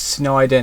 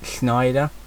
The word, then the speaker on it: Snyder: For some reason I pronounce it with an SH, but it's Snyder, not Snyder.